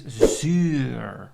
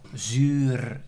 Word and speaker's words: zuur: In Dutch is zuur or zuur. Depends on how you want to pronounce the R.